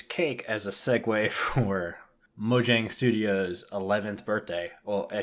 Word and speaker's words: Mojang: they're no longer just Mojang and we found out it is Mojang so I've been saying it wrong for forever mhm I knew